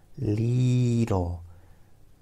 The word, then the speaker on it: Lidl: Leedle. L-E-E-E-E-E-D-L. Or L-E-E-D. L-E-E-E-E-D-A-L. Leedle. Leedle. Leedle. Leedle. Leedle.